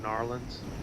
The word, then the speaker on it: New Orleans: New Orleans. Thank you. or as they probably pronounce it, Narlins. Oh, for sure. That's how they pronounce it.